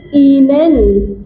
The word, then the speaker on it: Ihnen: जब हम फॉर्मल में उसको पढ़ते हैं तो हम कर देते हैं वी गेट एस ईनेन, IHNEN, एंड the remaining question remains same, we गेट एस ईनेन, ईनेन। आई की प्रोनाउंसिएशन क्या होती है, चेक करो, ई, आई की प्रोनाउंसिएशन क्या होती है फरमान, ई।